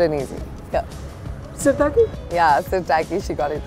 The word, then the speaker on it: Sirtaki: I'm gonna ask you to pronounce it. Okay, go on. It's very simple and easy. Yeah. Syrtaki? Yeah, Syrtaki, she got it right.